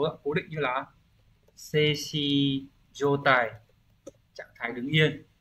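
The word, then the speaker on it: 静止: Từ đầu tiên, từ này là đọc là seishi.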